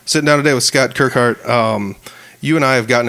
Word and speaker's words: Kirkhart: out by saying people's last names because everybody pronounces them differently. Kirkhart, yep. Yeah, and yeah, believe it or not, I've messed up a couple, but we got it right. Sitting down today with Scott Kirkhart.